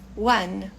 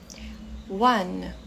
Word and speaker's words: one: então começando pelo primeiro One One perceba que esse e aqui não é pronunciado né nós terminamos no n e o n é